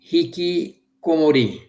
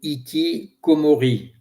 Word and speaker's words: hikikomori: Ce mot c'est hiki comori ou iki comori si je le prononce à la française qui vient de hiki